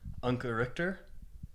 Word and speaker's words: Anke Richter: I've got a very special guest with me Uncle Richter did I do all right with that pronunciation it's perfect beautiful and Anka is um